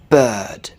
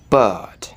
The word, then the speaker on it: bird: the vowel uh uh bird so I don't pronounce that R it's not bird it's not perfect or beard but in British English typically it's bird bird just listen and try